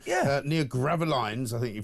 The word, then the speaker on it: Gravelines: Near Gravelines, I think you pronounce it, near Dunkirk.